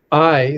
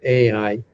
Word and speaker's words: Ai: And when the children of Israel then came next to I, most people say Ai, but it's a it's a dip thong. I is the way it's pronounced.